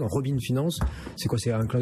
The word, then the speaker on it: Robin Finance: aujourd'hui de Robin Finance, je prononce à l'anglo-saxonne, Robin Finance.